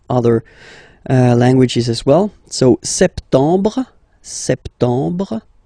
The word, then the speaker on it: septembre: So septembre, septembre. Remember this EM en septembre. You don't insist on the final E.